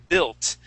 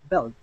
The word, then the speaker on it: built: And the next word is built, okay? You're going to ignore the U, and you're going to focus on the I, and you're going to use a short I sound. Built. Belt.